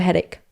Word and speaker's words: headache: I got a headache. No, ¿cómo se pronuncia?